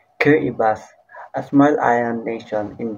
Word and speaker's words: Kiribati: Let's talk about Kati another island nation part of Macan region about Kbati another island nation part of the Micronician region Kibati pronounce Kibas a small island nation